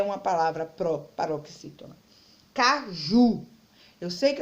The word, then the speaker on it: caju: Caju, eu sei que as palavras quando terminam com U e não é acentuada, eu estudei isso ontem, eu sei o quê? Que as palavras terminadas com U, a sílaba tônica é a última. Então, caju, ela é uma oxítona.